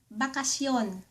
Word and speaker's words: bakasyon: Bakasyon.